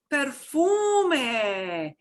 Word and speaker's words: perfume: Perfume, perfume. Perfume, we pronounce that E at the end because we don't have any silent letters.